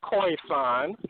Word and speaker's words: Khoisan: First of all, it's pronounced Khoisan or just San, Khoisan, or just San.